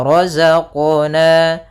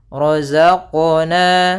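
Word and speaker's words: رَزَقْنَا: Maka cara membacanya adalah razaqna razaqna.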